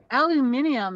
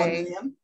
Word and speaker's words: aluminium: Now, aluminium, as the Brits say. Aluminium.